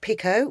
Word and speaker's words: picot: We've got picot, which is a crochet term. These have both got a silent T on the end.